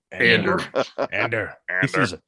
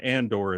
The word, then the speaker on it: Andor: Stellan Skarsgard um and pronounces Cassie and Ander Andrew which I enjoy although he starts calling him Andor in later episodes so I guess he's he's been corrected but um you didn't see